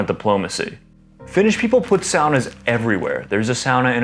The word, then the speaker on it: sauna: correct in english but sauna is one of the few words in the english language with finnish roots so i feel it's proper to pronounce it the finnish way i know it may